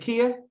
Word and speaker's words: Zakia: so as a kid is it Zakia it's Zakia Zakia yeah am I saying it right yeah okay so Zakia